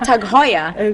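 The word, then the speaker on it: TAG Heuer: in and they go oh do you have tag I'm like I have tag Hoya because I had to learn it myself and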